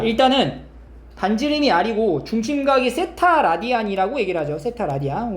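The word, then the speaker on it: θ: 세타, 이거 세타라고 읽어요.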